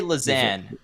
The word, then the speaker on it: Lausanne: I say Lausanne, and I've been there twice. Yeah, and that's how I pronounce it when I was a resident.